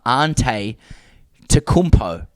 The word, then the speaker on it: Antetokounmpo: It's pronounced Yiannis. And his last name is um Antetokounmpo.